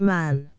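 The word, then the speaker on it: Mahon: He had a Roman nose, a snow-white, long beard, and his name was Man, but he insisted that it should be pronounced Man.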